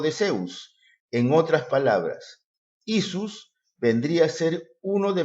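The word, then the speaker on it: Ἰησοῦς: En el griego, hemos visto que el nombre del Señor Jesús se pronuncia como Isus, y los mesiánicos y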